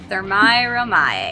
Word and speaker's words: Thermae Romae: The real Rome with, Chibi, can you pronounce this? Thermae Romae.